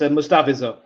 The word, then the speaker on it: Mustafa: The at the end is pronounced as in pure, but Mustafa.